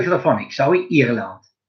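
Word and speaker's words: Irlande: Ireland.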